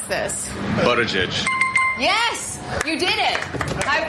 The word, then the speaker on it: Buttigieg: How do you pronounce this? Buttigieg.